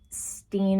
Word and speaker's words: Stein: teaching, I'm sorry that I also say Steen and Stein interchangeably. I don't know what to tell you. It's just an automatic thing, and I always hear different pronunciations. I've always heard different pronunciations of his last name. I know they said Stein for this, so I'm trying to stick with that.